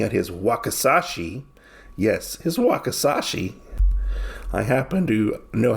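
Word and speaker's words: wakizashi: ends up taking out his wakashi yes his wakashi I happen to know how to pronounce that now because I listen to the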